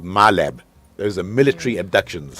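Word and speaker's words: MILAB: but there's something called myab there's a military abductions how how to spell it my lab m i l a b military abduction oh my lab okay my lab okay just like a laboratory right no what it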